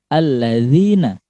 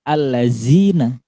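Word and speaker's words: الذين: Alladzina, bukan allazina, ya.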